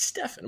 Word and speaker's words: Stephen: stuff Steve Steve Curry's it's Stefan but I mean you do sound like an idiot and you're like no it's not Steven it's Stefan it's like if someone told